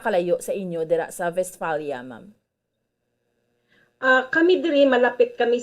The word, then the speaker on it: Westphalia: Ano pag-pronounce? Westphalia. Okay, sige. Yes, Westphalia. Kay ang W, they pronounce V. it as V.